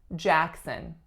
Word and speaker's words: Jackson: one we have Jackson Jackson two syllables winner is on the first the first sound is a tense a sound and the second syllable is what schwa Jackson next one we have